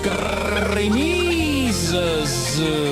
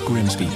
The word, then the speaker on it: Grimsby: Looks simple, but what if we told you it was pronounced Grimmies? We'd be lying, it's Grimsby.